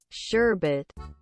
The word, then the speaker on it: sherbet: anyone say that before there's no second R I'm telling you sherbet all right you got